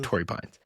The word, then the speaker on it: Torrey Pines: Yeah, Torrey Pines.